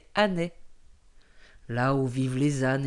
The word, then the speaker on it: Anais: Afrique mais à ané qui ne se prononce pas Anaïs mais anné là où vivent les